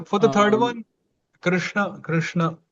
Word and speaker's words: Krishna: Actually the way we all pronounce Krishna is also not really correct. We pronounce it Krishna which is not correct ideally Krishna because the tongue has to bend more backwards.